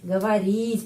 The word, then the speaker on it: говорить: Говорить penekanannya di sini ya, I. Karena itu huruf O dibaca A.